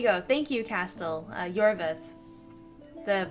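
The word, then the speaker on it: Iorveth: thank you castel uh yorvith the pronunciations get to me but yeah yorvith that's how you pronounce it i did like him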